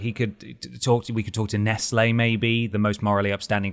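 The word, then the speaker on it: Nestlé: It's pronounced Nestle, but sorry.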